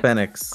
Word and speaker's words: Fénix: Fénix. I've always heard it pronounced Phoenix. I don't know why. Fénix.